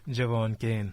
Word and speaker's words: Jevaughn Cain: I hope I pronounce it correctly. No? Jevaughn Cain? Jevaughn Cain.